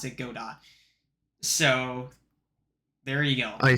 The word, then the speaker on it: Godot: The developers themselves pronounce it Godot.